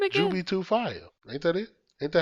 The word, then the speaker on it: Jubi2Fye: Jubi2Fire.